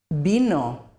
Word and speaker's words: vino: the sound B, because in Spanish there is no difference between the pronunciation of the B and the V.